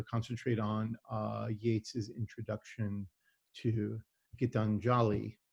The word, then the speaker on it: Gitanjali: on Yeats's introduction to Gitanjali. And I'm pronouncing that slightly wrong, right? So correct me on that one. Or is it? No, it's fairly accurate, yeah.